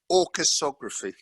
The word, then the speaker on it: Orchesography: Orcheography? How do you say it? Yeah, I know, it's a disastrous name, isn't it? I don't want to. That's Jack's fault. That name. It's orchesography.